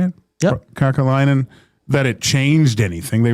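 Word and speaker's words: Kekäläinen: Kakalainen.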